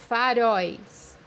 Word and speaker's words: faróis: مثال عندنا كلمة مصابيح أمامية أو فنارات بمعنى faróis, faróis, زي ما انت شايف في كلمة فارويس تم نطق المجموعة الحرفية ال O وال E مع بعض بدون فصلهم.